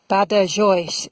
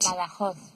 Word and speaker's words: Badajoz: Badajoz. So that's how we pronounce it. The Spaniards pronounce it in a different way. Let's just have a listen to that. Badajoz. Very different.